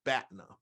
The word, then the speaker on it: BATNA: science of negotiation and the way i pronounce this is batna so you must before you have any type of conversation any kind of negotiation any kind of discussion you must create your batna batna is an acronym